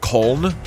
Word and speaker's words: Köln: It's actually pronounced Köln.